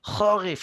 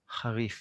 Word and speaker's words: חריף: If you find it hard to pronounce the ch, instead of pushing it too hard like ch, charif, and hurting your throat, go the other way. Say harif as soft as possible, and we can still understand you.